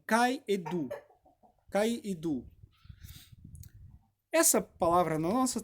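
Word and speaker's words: καὶ ἰδού: E essas ênfases estão nas palavras que, em grego, que é o original que a Bíblia foi escrito, é lido como kaedu, pronunciado como kaedu.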